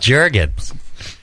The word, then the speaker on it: Jergens: Jergens. Everybody just guess. It rhymes with Jerkins.